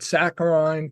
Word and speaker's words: saccharine: couldn't stand acronyms, so instead he called it saccharine to rhyme with wine, so as to be differentiated from the artificial sweetener.